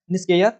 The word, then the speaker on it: NISCAIR: तो ये संस्था का नाम आपको बताना है, और इस संस्था का नाम है निस्केयर बोला जाता है, जिसको NISCAIR।